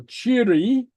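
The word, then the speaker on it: tìoraidh: the combination is pronounced AI DH very often appearing at the end of a word uh sounds like an e so cheeri okay bye-bye okay Chi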